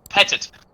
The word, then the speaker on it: Petit: What, is Jennifer- it petite or petit? I think it's Because petite. Petite Petit. is spelled with one T.